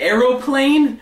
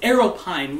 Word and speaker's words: aeropine: But he pronounced aeropine wrong. He said aeroplane. I was like, no, it's aeropine.